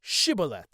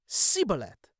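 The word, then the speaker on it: Shibboleth: So he says, go ahead and pronounce the word Shibolet. And he would say Sibolet.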